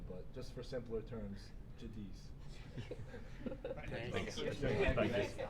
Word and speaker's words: Giudice: So I say Giudice is the correct way to say it. But when people ask the Italian way, it's Giudice. But just for simpler terms, Giudice.